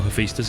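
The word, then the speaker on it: Hephaestus: assault gun at yes that's how hephistas is pronounced I Googled it so there the remnants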